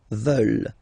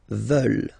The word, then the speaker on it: veulent: And the last one, here, E-U, E, and then E-N-T, classic ending, but then you don't pronounce it, so you get veulent, veulent.